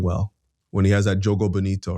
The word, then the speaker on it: Jogo Bonito: Like, no, you don't like Jogo Bonito?